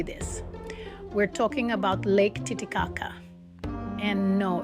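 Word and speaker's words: Titicaca: We're talking about Lake Tittikaka. And no, it's not what you're thinking. We're not making fun of anything. It's pronounced tit kaka.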